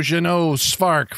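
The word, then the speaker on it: Jeannot Szwarc: I'm like, how do you pronounce? Oh, we know Jeannot Spark for.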